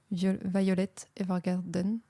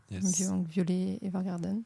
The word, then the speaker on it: Violet Evergarden: Donc je vais recommander la dernière chose que j'ai vu qui est l'animé Violette Evergarden. Violet Evergarden comme ça se prononce qui est une série